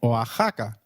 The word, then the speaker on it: Oaxaca: While X is usually pronounced as X inflexible, it is pronounced as a throaty H in the words Mexico, Mexicano, and Oaxaca, which is a state in Mexico.